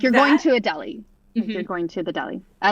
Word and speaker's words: Adelie: I remember it now that you say that because I always want to say "A-da-lay," but it's A-deli. A-deli. Yes. Like you're going to a deli.